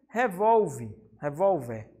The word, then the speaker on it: revólver: E revólver. Revólver, o vol é a mais forte, certo, gente?